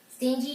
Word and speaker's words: stingy: 我很情绪化 Generous, which means 很大方的 Or a lot of students ask me this word, stingy. It's pronounced with a D. Stingy just means 很小气 Are you stingy?